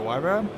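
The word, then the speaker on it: Huayra: track we are in our wire which that's how you pronounce it I looked it up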